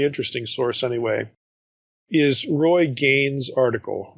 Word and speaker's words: Gane: And for this, I think a good source, a really interesting source anyway, is Roy Gain's article. Gain is spelled Gane, and it's entitled The Bread of the Presence and Creator in Residence.